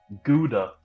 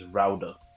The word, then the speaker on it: Gouda: No, there's a lot of people call it Gouda, but every time a someone from the Netherlands be like, they die every time someone says it Gouda, but it's pronounced Rauda.